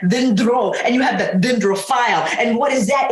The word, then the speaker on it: dendrophile: And I'll say it like this, dendrophile, because dendro is a word that I learned in Greek, and it means tree. Tree, dendro. And dendrophile is, that last portion is like Philly, like Philadelphia.